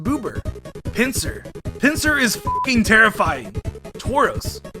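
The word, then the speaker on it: ブーバー: be the strongest magmar magmar's japanese name is pronounced boober pincer pincer is terrifying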